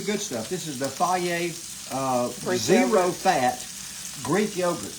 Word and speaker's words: Fage: This is the fier uh zero fat Greek yogurt. Plain Greek yogurt. And as they put on everything, no, it's not fagee. F a ge, it's fier.